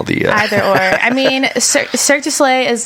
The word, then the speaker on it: Cirque du Soleil: How do you say that? Circus delay? Cirque du Soleil.